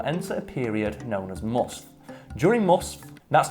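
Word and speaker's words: musth: male they will enter a period known as must during mus that's not me mispronouncing it it's m u s t mus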